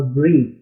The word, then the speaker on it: breath: हमारे पास अगला लफ्ज़ है जी ब्रेथ और ब्रीथ। एक तो आप इसके जो प्रोनाउंसिएशन है इसको गौर से समझिए, ब्रेथ ब्रीथ।